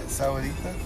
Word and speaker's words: Sahuarita: So you guys are 38 minutes to the south, Sahuarita? Yeah. Is that how you say it? Sahuarita?